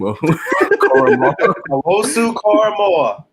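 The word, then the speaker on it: Owusu-Koramoah: 19, can you pronounce his name? Owosu Koramoah.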